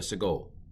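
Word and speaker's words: סֶגּוֹל: This is called a sagol. Not Sigourney Weaver, but a sagol.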